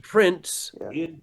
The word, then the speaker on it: prints: You don't pronounce the T, you jump right over to the S and you say prince over to the S and you say footprints in the snow.